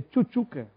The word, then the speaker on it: Tchutchuca: Aliás, a pronúncia no nome dele, quando eu narrava o dois, é Tchutchuca. Então, desde o Jacareí, né?